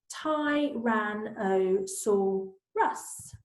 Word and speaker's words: Tyrannosaurus: then it says how do you say it ty ran I saw Russ lots of do you think he saw us